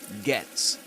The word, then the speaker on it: gets: And this glottle stop usually happens at the end of words in British English in Luke's accents in for example gets. Gets. He usually pronounces it like this. Get. Get. You've got to get. You've got to get. You've got to get get. So in that case, rather